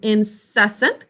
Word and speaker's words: incessant: Now this is a silent Z, just as usual when we have a double consonant with a syllable break. The first one is silent.